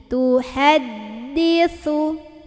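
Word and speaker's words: تُحَدِّثُ: Tuhaddi, tuhaddisu. Nah, ini sa ujung lidah ketemu ujung gigi. Jadi ujung giginya, ujung lidahnya gigit sedikit ya. Tuhaddisu akhbaraha.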